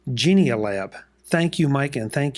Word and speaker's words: Genial: this time folks because Mike sent me the correct pronunciation genial AB thank you Mike and